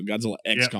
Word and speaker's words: Godzilla x Kong: So we're going to pronounce the X is what we're going to do. So Godzilla X Kong.